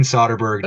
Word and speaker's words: Soderbergh: the last week I did learn the proper pronunciation Steven soberg directs Michael fast bender and cap Lanett in